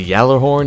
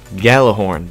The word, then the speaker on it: Gjallarhorn: the gather horn or the yellow horn if you pronounce it that way you weirdo anyway we're going to become this gun year for Gjallarhorn because that's how you